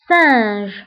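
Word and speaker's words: singe: ليكزامبل الثاني سانج سانج، لو سانج هو القرد. دونك سانج هنا اوسي قرينا اس بلو سون س او لو سون اس لانه كاينه في اول الكلمه.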